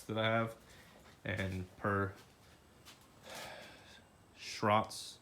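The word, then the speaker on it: Schroth: I have, and per Schrott's, I think Schrott is how you actually pronounce it.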